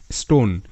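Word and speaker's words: stone: না এটাই পরবর্তী শব্দ এস টি ও এন ই স্টোন এস টি সটা স্ট ও এর সাউন্ড ও স্টো এন তে ন স্টোন অনুচ্চারিত ই আছে কারণ এটাকে ভিসি বিরুল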